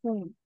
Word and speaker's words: Hum: man P H or sometimes it can also be pronounced as whom so what does that